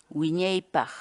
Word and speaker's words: Wiñaypaq: de vídeos en la que te enseñamos a pronunciar algunas palabras en quechua así que nuestra palabra del día por hoy es winnipeg gwyneth baja winnipeg la palabra quechua en español